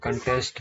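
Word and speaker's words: contest: और इसका जो प्रोनाउंसिएशन होता है कंटेस्ट होता है, कॉन्टेस्ट।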